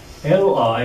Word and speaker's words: li: L-I is actually pronounced Li.